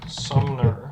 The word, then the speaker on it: Sumner: Williamson, Chatham, Davidson, Robertson, Sumner, not Sumpter, Sumner, Drowsdale is the small one, Mon Clay,